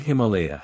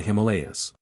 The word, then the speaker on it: Himalaya: The word Himalaya has been accented on the second syllable wherever it occurs.